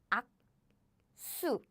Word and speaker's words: 악수: So the following consonant become, I want to write this. Following consonant become 수. The changes to 악수, 악수.